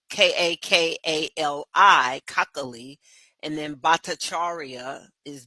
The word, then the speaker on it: Kakali: find her cockal it it sounds like broccoli but it's spelled k a k a l i kakali and then bataria